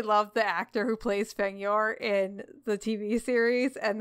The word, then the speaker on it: Fedyor: If you're going to marry Fedyor, you might want to start pronouncing his name Fedyor. Fedyor. Like, have you fed your cat Fedyor.